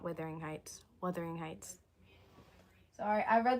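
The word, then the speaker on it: Wuthering Heights: It's Weathering Heights, not Withering Heights.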